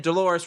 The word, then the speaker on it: Dolores: And he could have just said Dolores rhymes with clitoris and then be done with it, right?